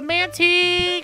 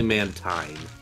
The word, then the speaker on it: Mantine: It's a Mantee! Get that Mantee going! I'd say that's a fair pronunciation. It's a fair? It's technically Mantine.